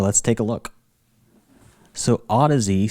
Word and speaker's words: Audeze: this video I'm going to be reviewing the Odyssey lcd2 headphones as you can see here many